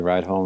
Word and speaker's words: Rydholm: Is that how you say it? Yep. Bradley Rydholm or Rydholm. Rydholm. Okay, Rydholm.